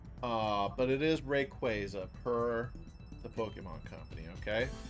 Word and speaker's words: Rayquaza: and that they had Rayquaza on there because a lot of people, myself included, back in the day, pronounced it as Rayquaza. Uh, but it is Rayquaza per the Pokemon Company.